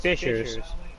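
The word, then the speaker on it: fissures: Uh they're pronounced fishers, but um yeah, it's basically a fisher is um person who catches fish.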